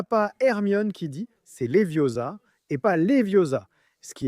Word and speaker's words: Leviosa: C'est le moment où elle corrige Ron en classe quand ils apprennent Wingardium Leviosa. La célèbre phrase « c'est Leviosa et pas Leviosa » n'apparaît pas dans les livres.